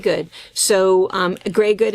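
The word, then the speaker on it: greige: So, here is your basic greyg good. So, um grey good in that is spelled g r re r e i g e and it just means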